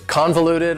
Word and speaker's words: convoluted: for you is convoluted convoluted also has four syllables and the stress is on the first syllable convoluted that second syllable again has that schwa sound that reduced vowel sound convoluted convoluted if something